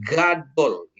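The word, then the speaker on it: גדול: Jadi G-nya itu itu Gmail-nya itu ditekan jadi Gadol. gitu ya. Jadi penekanannya digadol gitu ya.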